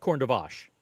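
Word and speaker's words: Corne de Vache: Corn de vag, according to Rob. I call it corn de vache. That's my pronunciation.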